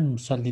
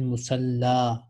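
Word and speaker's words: مصلى: This is not musalli. This is alif maksura. It is pronounced like alif. Fil musalla tusalli.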